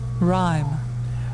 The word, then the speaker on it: rhyme: Lou okay so rhyme you complained that the H a letter in here is a silent letter the last one clothes